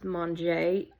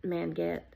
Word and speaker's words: Manget: North Avenue and then Manget, which is pronounced Monjay, unless you're Country Boys and you pronounce it Manget.